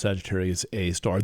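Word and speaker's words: Sagittarius A*: called Sagittarius A star that is abbreviated Sagittarius A and then asterisk and that's pronounced Sagittarius A star there's some kind of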